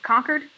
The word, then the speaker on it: Concord: con people say um if you're like actually from massachusetts you pronounce it conquered i don't know why